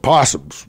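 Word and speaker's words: opossum: Let's wrap it up with possums. We don't love a good possum. Starts with O. You don't pronounce it, though, do you? No, you don't. Nope, just say the P.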